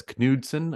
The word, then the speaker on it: Knudsen: Benjamin, I'm going to assume that's Knudsen. I'm assuming he's German, so you would pronounce the K.